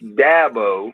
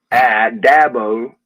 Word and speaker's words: Dabo: It's Dabo as in apple. Dabo and I get all kind of pronunciations of that. And it's Sweeney as in just like E.